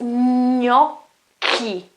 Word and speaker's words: gnocchi: Okay, so the sound here is not chi, it's not gnocchi or gnocchi or gnocchi, no, it's gnocchi, k, it's like a K, gnocchi, gnocchi, okay, well that's it.